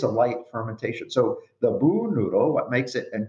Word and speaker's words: bún: Bún always has to be fresh noodle.